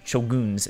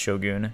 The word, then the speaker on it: shogun: during the era of Shogun chill goons it's actually pronounced show goon show goons and all that so